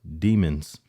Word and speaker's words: Demons: His real name is Jamel, get this, Demons. Yeah, I saw that. Yeah. And that's the way his name is pronounced.